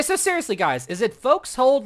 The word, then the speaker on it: forecastle: Like, I know it's spelled forecastle, but I think it's pronounced folks hold. But I've actually heard that both terms are okay. You can say it like folks hold and forecastle. I've heard, like, you can say both ways, and I guess it just, I don't know.